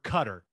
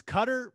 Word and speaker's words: Qatar: years ago i was told it's cutter but i feel like on espn they keep saying qatar so i i don't know what to do i'm gonna go with qatar just because i mean it's spelled with a q in an a so what what are we calling it what's the kind i call it qatar okay let's go with that i think maybe it's supposed to be cut but i sound like